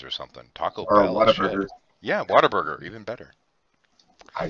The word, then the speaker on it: Whataburger: No, it's not like Water Burger. It's like spelled like what a burger. Whataburger. But instead of what, it's wow.